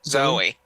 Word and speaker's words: Zoe: saying that right zo is it Zoe or zo zo zo Zoe I think Zoe Zoe okay so I